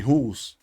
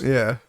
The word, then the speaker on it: Jules: Like, instead of Jools, Jules. And then like she'd call me Jools because I don't pronounce the J. And I thought, if I put the J on there, like, it'll actually sound like Jules, as in like Julius or like Julian.